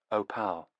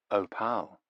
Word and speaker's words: Opal: Opal, like the precious stone, but with the stress on the second syllable. Opal. Opal, said Nevada.